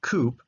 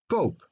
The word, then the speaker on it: koop: So double O is not pronounced koop, but it's pronounced koop, like in the ideal sample.